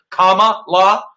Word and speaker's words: Kamala: because you're not saying her name properly which is let me let me educate you again tucker comma law comma like i want